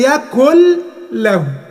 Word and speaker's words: يكن له: يكن له هتبقى يكل له، هتبقى ايه؟ يكل له. النون هتتقلب لام بتاعت يكن، ده في حالة الوصل.